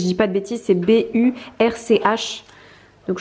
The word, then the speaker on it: Burch: C'est B-U-R-C-H. Donc je crois que c'est Burch. Donc voilà, et bien évidemment, j'ai également craqué sur cette ceinture de la même marque.